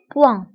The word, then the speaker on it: point: فانتبهوا بالنسبة البوان كنكتبوها دائما بالتي في آخر الكلمة، ولكن هذه التي لا تنطق، تنقولوا un point.